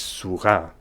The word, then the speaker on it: sourat: and I promise you, any French reader will pronounce this as a silent T. This word is surah.